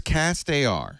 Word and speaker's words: CastAR: Now, people who contribute to the Kickstarter project, will they get a pair of cast AR glasses? Am I saying it right? Is it castar or cast? Cast AR.